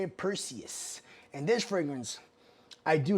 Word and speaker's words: Perseus: All right, that's how you say it, Perseus.